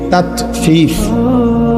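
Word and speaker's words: تطفيف: তাطফিফ বাংলা শব্দটা বুঝছেন উচ্চারণটা ত আকার তা তত ফ দীর্ঘিকার ফি ফিফ এই তত ফিফ এই হলো শব্দ অর্থ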